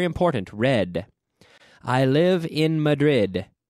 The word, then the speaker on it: Madrid: In English, the D has one sound and one sound only, d, d, d, d, d.